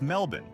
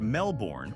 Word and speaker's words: Melbourne: It's Melbourne, not Melbourne or Melbourne. Australians have a habit of swallowing syllables, and nothing outs you as a tourist faster than adding the "born."